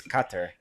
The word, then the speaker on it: Qatar: know anything about guitar all I know is it Rhymes a guitar actually it's not even how you say it is cutter when you're actually there but um I have